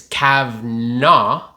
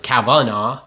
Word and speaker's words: Kavanagh: history as a family it's cavna almost without the a in the middle cavna so like two syllables and we added a couple other ones cavana three syllables but we are you